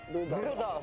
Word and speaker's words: Rudolph: That is how you pronounce Rudolph, though. Rudolph.